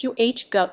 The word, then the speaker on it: Uga: Pronounced UHGA is the name of a lineage of white bulldogs which have served as the mascot of the University of Georgia since 1956.